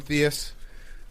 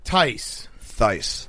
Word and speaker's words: Theis: I'm going to keep calling him Theus. Is that okay? Theis. Tice.